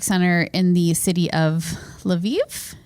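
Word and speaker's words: Lviv: in the city of laviv is that how you would pronounce that l apostrophe VI IV yeah maybe laiv laiv so via laiv right so of course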